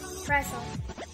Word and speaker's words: wrestle: W is not pronounced at the beginning of word when it is before the letter R. It's in the word rap. Right. Wrong. Frisk. Wrestle.